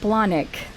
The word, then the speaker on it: Blahnik: So I want to give a warm welcome to my guest, Michelle Blahnik.